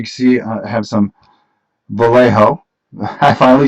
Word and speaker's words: Vallejo: As you can see, I have some Vallejo.